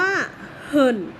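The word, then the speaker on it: 很: ลูก คำ นี้ มาก ภาษา จีน ออก เสียง ว่า เหิน เหิน กัน นี้ คือ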